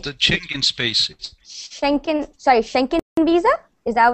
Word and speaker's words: Schengen: And there's like Schengen, that's how you say it, Schengen visa.